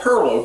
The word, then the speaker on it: pilau: you say it's a minorcan dish it's called Perlo pronounced p e r l p e r l